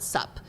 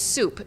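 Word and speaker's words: súp: it's spelled out sup so non-vietnamese people would call it sup but it's soup meaning um just soup broth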